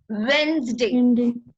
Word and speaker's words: Wednesday: So it is Wednesday and the letter D is silent in that.